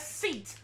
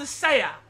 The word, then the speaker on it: SEAT: and when i came into this game i pronounced the company as seat like it doesn't like the thing you sit